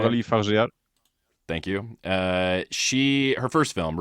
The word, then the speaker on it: Coralie Fargeat: Coralie Fargeat.